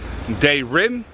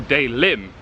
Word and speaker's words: Daerim: in Korean, in English, you can either pronounce it Daerim or Daelim, because the il in English is an R and an L.